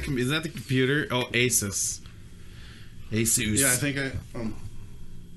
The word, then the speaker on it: Asus: I'm like oh an asus I those any good and of course it's pronounced asus I'm like come on